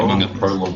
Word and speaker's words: Prolog: Prolog is first syllable.